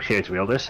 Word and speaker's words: Geert Wilders: Their name, Geert Wilders, as they are called. Yes, I just pronounced it Dutch.